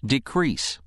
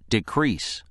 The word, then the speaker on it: decrease: meaning to become or make less it is pronounced decrease decrease during the summer months local governments often ask